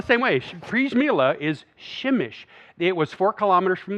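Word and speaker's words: Przemyśl: town a strange little saying a town called prismillah um it doesn't actually I'm sorry that's how I pronounce it that's how Google pronounces it it's really pronounced shemish I know right it's spelled the same way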